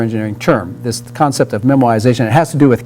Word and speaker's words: memoization: that wascooly rabbit so if elmer fudd were to say memorization he would say memoization yeah but this really is memoization that elmer foot and